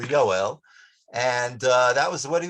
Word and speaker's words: Yoel: Litvaks pronounce Yoel, which is the Hebrew name for Joel. They pronounce the cholon, they pronounce the O sound as an A. So they would say Yale for Yoel, and that was what he was known by.